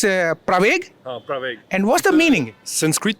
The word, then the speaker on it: Pravaig: How to pronounce the name? I guess it's Praveg? Praveg.